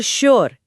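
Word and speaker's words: sure: लेकिन शुगर और श्योर इन दोनों ही शब्दों में एस के ठीक बाद कोई एच है ही नहीं। फिर भी इन्हें शुगर या श्योर नहीं पढ़ा जाता। बल्कि भारी आवाज के साथ शुगर और श्योर उच्चारण किया जाता है।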